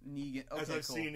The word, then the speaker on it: Negan: Well, the thing about Negan too is that I feel Is it Negan or is it Negan? Negan.